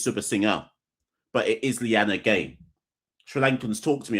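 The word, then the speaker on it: Liyanage: It's sub singer but it is Lyanna Gay.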